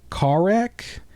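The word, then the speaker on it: Kharak: be Homeworld deserts of car wreck I think the H is silent I think it's uh k h a r a k so that's from August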